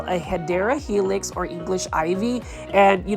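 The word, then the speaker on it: Hedera helix: new to the channel I do mispronounce hyera Helix as hedra Helix because for the longest time I thought it was aedra Helix and not hadera Helix for English ivy now it looks like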